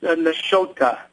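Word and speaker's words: Nashotah: It's Nashota. Nashota.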